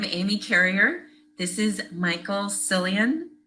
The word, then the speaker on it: Sillion: This is Michael Sillion. How do I pronounce that, Michael?